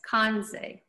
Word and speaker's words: Kanza: federally recognized indian tribe our name is written in our language as kansai the second syllable is barely audible this was shortened to